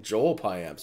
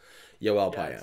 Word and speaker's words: Yoel Pimentel: I'm like, that's just fucking Joel Pimentel. Who are you talking about? And then I think it was Shulman later in the show was like, made whatever indication that's how his name should be pronounced. So there it is, Yoel Pimentel.